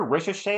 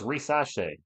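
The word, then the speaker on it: Risacher: I hear Ricochet a lot. I don't think that's right. Rumble in the paint, layup good. I thought it was Risache.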